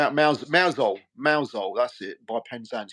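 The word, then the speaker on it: Mousehole: we mouse hole mouse hole that's it m mouso mouso that's it by pensant yeah yeah we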